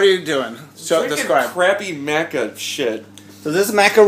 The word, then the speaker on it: maca: So the only problem with Maca is that it actually rhymes with caca and it kind of tastes like...